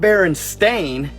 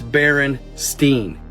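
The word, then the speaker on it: Berenstain: was spelled including myself it's not bearing stain it's Baron Steen but that's not why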